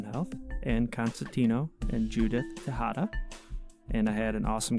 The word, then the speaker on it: Tejada: Ann and mm-hmm how do you pronounce your last name Tejada Tejada okay I was correct on the pronunciation I